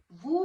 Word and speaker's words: vous: Vous means S is silent here.